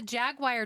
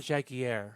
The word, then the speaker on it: Jaguar: Oh, it's not Jaguar. No. It's Jaguar. Jaguar. Spelled the same.